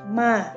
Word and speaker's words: ma: I have the word ma. That means you see the yellow line. Okay, the yellow line. Let's see. Listen to me. Ma, ma, ma.